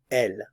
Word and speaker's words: elles: S here IL and I don't pronounce the S here L on this first one